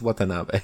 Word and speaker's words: Watanabe: Watanabe? I think it's Watanabe. I don't know how to pronounce it. All right. Wasabi. As Dr. Ishiro. Yeah, it's Watanabe.